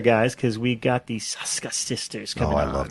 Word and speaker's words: Soska: I'd like to welcome Jen and Sylvia Soska. Soska. That's all of them. We're saying all of them. If I say it enough, one's going to be right. Well, that was a proper Hungarian pronunciation.